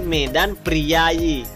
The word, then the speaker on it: Medan Prijaji: menggunakan huruf palawa kemudian contoh selanjutnya yakni Medan prijaji tulisannya seperti itu dan cara membacanya yakni Medan priayi Nah Medan priayi ini